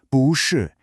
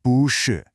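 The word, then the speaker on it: 不是: So when two heavy, falling fourth tones collide, Chinese elegantly solves the problem by changing the first tone to a rising second tone. So you always say 不是 instead of 不是.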